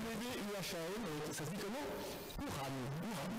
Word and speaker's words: Wuhan: En Chine, Wuhan, ça s'écrit W-U-H-A-N, ça se dit comment?